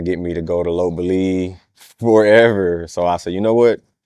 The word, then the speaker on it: Lopburi: As far as living long-term in say I lived in Lopburi, Thailand, but I pronounce it Lop Buri cuz you just get used to saying it how they are.